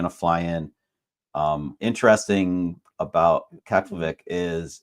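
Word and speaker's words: Keflavík: But for an international flight, you're going to fly into a different airport, and that is, can you pronounce it? Is it Keflavik. Keflavik? Keflavik.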